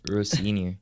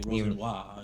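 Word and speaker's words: Rosenior: Row senior. So Row senior? Yeah. So senior, row senior. I thought it was like Rosenwa. Row senior.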